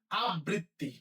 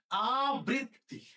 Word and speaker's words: আবৃত্তি: যারা কেয়ারফুলি শুনি না এই শব্দটা এখনো পর্যন্ত, সবাই বলি আবৃত্তি। না, এটা হবে কি? আবৃত্তি। আবৃত্তি, তাহলে কি হবে?